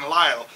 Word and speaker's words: Lyle: creative genius in America Kevin Lyle so it's not a surprise his name rhymes with style he made this one